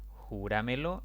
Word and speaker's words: júramelo: Júramelo es una palabra de 4 sílabas. La mayor intensidad de voz está en la sílaba antes de la antepenúltima. Por lo tanto, es una sobreesdrújula y se le debe colocar tilde.